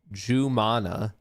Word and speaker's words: Jumana: It's pronounced Jumana, and it's Arabic name for meaning pearl. This is a kind of a rare spelling of it, but it is pronounced Jumana.